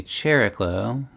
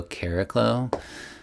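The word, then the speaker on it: Chariklo: So Chericlo was turned into Cherry and Chloe, but now I call Chericlo Cariclo, based on what I feel is the most correct Greek pronunciation.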